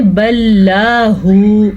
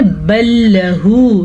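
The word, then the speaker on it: بل له: اکثر لوگ پڑھتے ہیں بل لاہ، استغفر اللہ، یہ ایک بہت بڑی غلطی بنتی ہے، کفریہ غلطی ہے اس میں. تو ہم نے کیا پڑھنا ہے؟ بل لہ، لام زبر لا، اس سے زیادہ لمبا نہیں کر سکتے.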